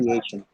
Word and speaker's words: pronunciation: Pronunciation, yeah, a lot of people pronounce it as pronunciation because of the spelling. Yes. It's not how it is pronounced. It's Hmm. pronunciation.